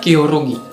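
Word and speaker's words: 겨루기: ya pertandingan fighting Yagi bahasa Koreanya itu gioro gitu nah dibacanya kyorugi tulisannya g&y ya oh rugi Yogi dibacanya yo rugi nah orang Indonesia nulisnya kyorugi jadi begitu Apa yang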